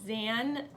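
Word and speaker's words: Xan: seen your name wrong it's XA n zan Lance it all says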